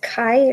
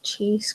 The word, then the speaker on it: chi: So, yeah, number 2 should be is it Chi or I don't know. I call it cheese. It's pronounced chi.